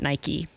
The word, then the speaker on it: Nike: so now I know everyone in America pronounces it Nike yeah yeah everyone would you